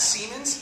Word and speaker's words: Siemens: And then we passed Siemens, S-E-I-N.